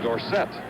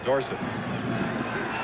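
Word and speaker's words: Dorsett: and Wes Dorset recently Tony says we should pronounce his name Dorset however too many people know it the other way Chris been a hard time to change it too late is parents know it dorson third and five now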